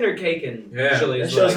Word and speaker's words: Khaykin: So the K, but the K part is silent. The first. So, K. but nobody's ever said Keegan. No one's actually ever said that. People say Because of why? Kaikin or Khaykin.